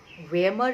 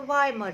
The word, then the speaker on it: Weimar: That is the Weimar Republic or the Weimar Republic, whichever way you want to pronounce it.